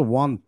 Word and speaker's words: want: দেখো, আমরা ওয়ান্টস বলি, বাট এটা আসলে ওয়ান্ট বলা হয় না, এটার সঠিক উচ্চারণটা হচ্ছে ওয়ান্ট।